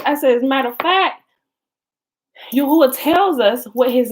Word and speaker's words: Yahweh: I said, but Yahweh is a mistransliteration and a mispronunciation of the actual name, which is actually Yahuah.